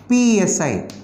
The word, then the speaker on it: psi: it is represented as psi okay p is silent so say dou and psi yes the equation can